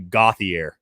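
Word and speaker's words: Gauthier: a lot of people i know a lot of people won't know how to pronounce his name because i didn't either but we had him on the podcast in october and i asked him it's actually gothier okay so my question to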